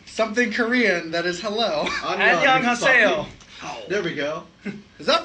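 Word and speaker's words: 안녕하세요: Annyeonghaseyo.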